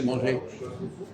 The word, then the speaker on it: manger: Pourquoi est-ce qu'on dit manger alors qu'il y a un R après manger dans l'infinitif? Pourquoi? Oui. Pourquoi je dis manger, je ne prononce pas le R?